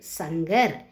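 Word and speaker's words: शंकर: ச இங்க இர் சங்கர்.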